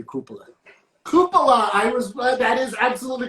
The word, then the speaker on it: cupola: I'm gonna say cupola. Cupola. That is absolutely correct. I mispronounced it. It is cupola.